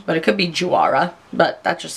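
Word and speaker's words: Juara: it's by the brand wara I think is how you pronounce it it's j u a r a so I'm pronouncing or I'm guessing you don't pronounce the J but it could be Jara but that just sounds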